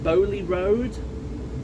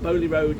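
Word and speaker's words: Beaulieu Road: that yesterday, and bar, now I think it's pronounced Bowley Road, something in that vicinity, because at the moment Bowley Road is only 2 hours.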